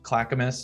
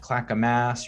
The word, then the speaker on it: Clackamas: of the willamette river but clackamas is how it's pronounced clackamas it's not clackamas or claycamis there is a camas washington which is a really nice suburb of vancouver just north of the river still the portland metro area so it's not pronounced the same way as canvases like clakamus it's clackamas so i haven't heard that